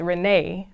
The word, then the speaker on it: Renee: So it's Renee, but they say Renni.